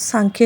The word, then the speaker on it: सांख्य: य किया जाता है सांख्य यह जो वर्ड है वह अलग-अलग तरीकों से लिखा जाता है एस ए एम के एच वाई ए या फिर एस ए एन के एच वा लेकिन उसको हम प्रोनाउंस सांख्य ही करेंगे इंडियन फिलोसोफी में सांख्य